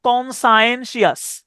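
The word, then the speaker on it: conscientious: সাধারণত এইগুলা এইগুলা দাগানো একটু কঠিন হয়, কারণ হচ্ছে এখানে এই যে কনসাইনশিয়াস, হ্যাঁ, এই বাক্য, এই শব্দটার উচ্চারণ হচ্ছে কনসায়েন্সিয়াস, কনসায়েন্সিয়াস।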